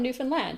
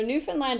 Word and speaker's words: Newfoundland: It's called Newfoundland and Labrador, and they both get final stress. And I think that helps a little to remember how to say it.